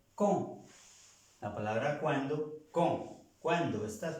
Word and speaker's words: quand: Entonces se pronuncia como si fuera una K, pero como la A y la N tiene un acento nasal que suena O, entonces por eso se pronuncia con.